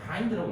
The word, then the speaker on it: hind: 나중에 보니 hind라는 단어를요 힌드 말고 hind라고 읽어요.